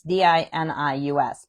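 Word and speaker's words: Dinius: Uh it's sort of how it's spelled. It's d i n i u s, but it's Di Ni Us.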